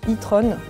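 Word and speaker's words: e-tron: audi leurs modèles électriques s'appelle itron quand tu le prononce avec un accent anglais et et trompe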